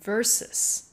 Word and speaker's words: versus: 很多人习惯看到 VS 这两个字母的时候，就直接将它这样念出来 VS，但事实上它所代表的字是 versus。